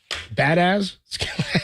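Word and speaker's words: Biadasz: say that guy's name badz it's kind of what it looks like right you got Zack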